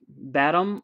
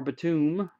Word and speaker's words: Batum: Daron Hilliard, Nicholas Batum or Batum, depending on how you say it. depends how many syllables you want to put in there.